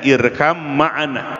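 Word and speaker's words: ارْكَبْ مَعَنَا: Irkam ma'ana, asalnya irkab ma'ana, dibacanya irkam ma'ana, naik perahu beserta kami.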